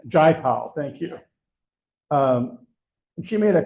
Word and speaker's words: Jayapal: Beth and I attended a luncheon recently with Congresswoman, I can never remember how to pronounce her name, Jayapal, thank you.